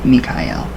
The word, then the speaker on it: Michael: flat red paint right the arch angelic name Michael pronounce me Kai L it's up to seal